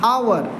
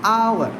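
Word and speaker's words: hour: एच ओ यू आर इसको आप हावर बोलते हैं। Please don't say हावर इट इज आवर। इसको आवर बोलो।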